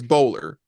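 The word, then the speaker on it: Bolar: all right okay now my last name is bowler not spelled like bowling but b o l a r so they said oh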